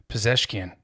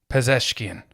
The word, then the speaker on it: Pezeshkian: Pezeshkian. Pezeshkian.